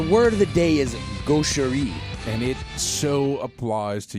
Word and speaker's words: gaucherie: Gaucherie, yeah, but it's spelt like it's all Frenchified. Gauch. Yes. E-R-I-E. Yeah. Gaucherie.